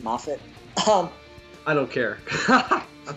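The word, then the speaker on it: Moffat: good old friend Steven mofat yep y CU we know him personally MAF um what I I was listening I was watching a Doctor Who documentary and I think it's actually pronounced mafit um I don't care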